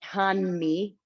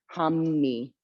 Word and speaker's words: Hanmi: It's spelled Hanmi. So you'd think it would be Hanmi. It's not Hanmi or Hamni. It's sort of this neat Japanese thing. Hammi. It's this M sound.